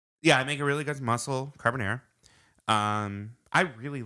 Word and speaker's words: carbonara: I make a really good mussel carbonara.